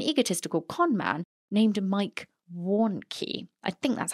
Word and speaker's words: Warnke: Warnke. It's difficult because you want to say Warrenecki, but it's not. It's not.